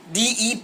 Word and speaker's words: debt: gonna pronounce so we will pronounce it will pronounce it like Det tit so bond represent long term debt securities